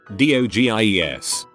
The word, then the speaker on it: dogie: owed stache TL DR do Gies dogies are the best cut til a doji is a real thing and that the phrase is actually get along little dogie and not doggy mispronounced as I'd always